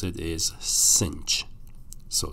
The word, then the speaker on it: sinh: for have S hyperbolic that's the way you pronounce it is cinch so s hyperbolic we call that cinch X